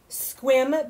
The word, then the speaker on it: Sequim: pretty funny yeah we have a place called squim but it's spelt more like sequim is that the one